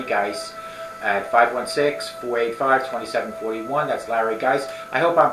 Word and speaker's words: Geis: That's Larry Geis. I hope I'm pronouncing his name properly. He's a good friend of mine. For some reason, I kept pronouncing it Geese, so hopefully Geis is the proper pronunciation.